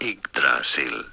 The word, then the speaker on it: Yggdrasil: Well, in most Norse languages, this is said as Yggdrasil.